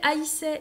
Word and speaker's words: haïssait: Il haïssait ses frères. On fait attention au verbe haïr. Il faudra bien mettre un tréma sur le i pour qu'on prononce haïssait et pas essaie.